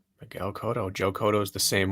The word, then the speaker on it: Cotto: we were correct miguel cotto joe kodo is the same way yeah so it's not brawler it's not kato like cotton thank you emily ann